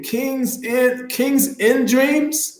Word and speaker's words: KingzNDreamz: And I saw the name Kings in Dreams. Is that right? Am I pronouncing that right?